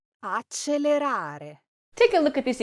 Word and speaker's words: accelerare: say accelerare, accelerare, well, the correct pronunciation is accelerare. pay attention to the L's and the R's in this word. Now, this is another common mistake in Italian pronunciation. Many people say this word with a double L and they'll say accelerare. Now, that's incorrect.